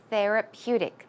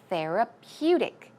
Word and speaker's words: therapeutic: As you see, here we've got the bold type, so the stress goes right there on the 3rd syllable. It's therapeutic.